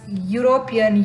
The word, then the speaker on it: European: So here Even if E is used in European, it's pronounced as European U.